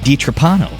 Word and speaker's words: DiTrapano: Upstate New York and I'm with with d trapano right did did I say it correctly yes